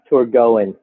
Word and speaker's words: Torgoen: And you're right, we do get a bunch of different responses to the name, but the official name is pronounced Torgoen.